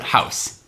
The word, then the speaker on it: Haus: Rogue house okay yeah so you pronounce it house yeah h-a-u-s yeah I